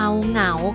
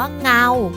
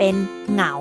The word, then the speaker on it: เหงา: ค่ะ ห ง เอา เหงา ค่ะ เห็น มย คะ ว่า เรา จะ ไม่ ออก เสียง ว่า เงา เพราะ มี หอ นำ เข้า มา แล้ว อยู่ คู่ กับ ง งู ดัง นั้น เสียง ง